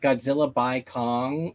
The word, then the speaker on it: Godzilla x Kong: I'm pretty sure you just drop the X. It's like by. It's like, or you either pronounce the X as X, or it's like Godzilla by Kong.